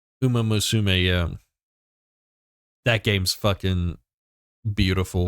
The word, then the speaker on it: Uma Musume: How do you pronounce it? Uma Musume. Uma Musume, yeah.